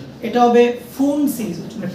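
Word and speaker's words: Pfund: এটা হচ্ছে পি ফুন না এটা হবে ফুন সিরিজ মানে পি উচ্চারণ হবে না ফুন সিরিজ ওকে।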